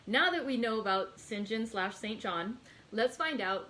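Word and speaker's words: St. John: story with nancy pearl because to me it is always saint john and so every time when i'm pronouncing sinjin just you know i am working it i'm trying really hard to do it the proper way for you guys all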